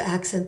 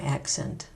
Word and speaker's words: accent: For two-syllable words that are both nouns and verbs or adjectives and verbs, we tend to accent the first syllable of the noun and the adjective, but the second syllable of the verb.